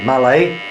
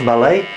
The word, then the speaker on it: Mallet: it's a steam locco Malay pronounced Malay um she's a 28